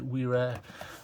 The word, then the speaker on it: Wera: with that in mind this is the wearer or Vera if you want to use the German pronunciation this is the full